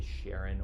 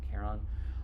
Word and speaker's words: Charon: that name is Caron sometimes you'll hear people say Sharon or even pronounce it almost like Karen I say Karen um and that Moon